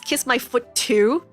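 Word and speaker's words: Kis-My-Ft2: y- ft2 it is technically their name is kiss my foot too help technically that's what their name is called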